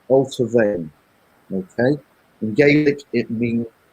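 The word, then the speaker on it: Allt-á-Bhainne: And it's pronounced Alta Vane.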